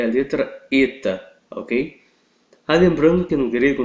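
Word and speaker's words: ήτα: E o eta, ele é aquela vogal fechada, E, ok? Eta.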